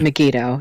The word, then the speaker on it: Megiddo: Is that Megiddo?